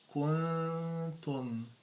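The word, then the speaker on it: كنتم: So when you pronounce it, you have to make sure that the dhamma like be pronounced while you gather your lips. Ku, tu, kuntum.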